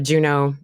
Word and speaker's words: Junot: for my name Juno look for that silent t m a r a j u n o t uh also on Twitter